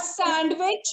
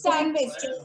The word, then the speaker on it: sandwich: It's not sandwich, it's sandwich. Okay, without D.